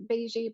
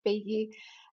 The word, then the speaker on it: Beigi: Of course, or like some people pronounce it as Beigi, but it's Beigi in my own language, which is Farsi.